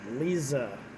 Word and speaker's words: Liza: so this is lis lis lisa lisa fletcher lisa that's how it's pronounced lisa uh that's how her family pronounce